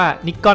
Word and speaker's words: Nikon: แบรนด์ นิคอน นะ ครับ ซึ่ง จริง ๆ เนี่ย มัน อ่าน ว่า นคอน นะ ครับ แต่ คน ญี่ปุ่น เนี่ย อ่าน ว่า นิกอน นะ ครับ ส่วน คน